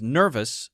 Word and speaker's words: nervous: uh uh cousin cousin this one is nervous it's actually the uhuh sound as well but it's called a this is called uh this is called the schah sound it's not stressed so it's almost not even there and then this one